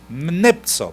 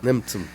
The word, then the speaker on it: Nemtsov: Ahora la prensa americana y la prensa mundial lo llama el líder opositor y se llama Boris ¿cómo se pronuncia? Nemtsov. Nemtsov.